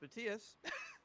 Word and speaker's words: Matthias: matthias is that one his name is pronounced matias and two some